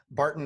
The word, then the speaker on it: Barton: I did okay he Barton sorry Barton not Burton okay so Richard Barton so